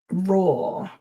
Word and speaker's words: raw: So it's not low or low, but law and raw.